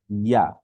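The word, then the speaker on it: ياء: আচ্ছা, তারপর হচ্ছে আমাদের সর্বশেষ যে হরফটি ছিল ইয়া।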